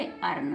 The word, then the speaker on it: earn: अब ई के तुरंत बाद ए आर आ रहा है, ई के तुरंत बाद ए आर आ रहा है तो ई क्या? ई साइलेंट रहेगा। ई को हम छुपा देंगे तो क्या पढ़ेंगे? अर्न। क्या पढ़ेंगे? अर्न। क्यों? क्योंकि ई के तुरंत बाद ए आर आ रहा है, ई को साइलेंट रखेंगे, अर्न।